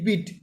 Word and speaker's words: beet: और देखिए आपको BEAT, देखिए आपको सेम साउंड प्रोनाउंसिएशन देखिए दोनों सेम लग रहा है ना, BEET बीट है, यहाँ देखिए BEAT बीट है।